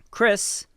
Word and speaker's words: Kris: a trans woman and goes by K-R-I-S Tyson, not C-R-C-H-R-I-S Tyson, a more feminine spelling, but the same pronunciation. Chris has recently gone on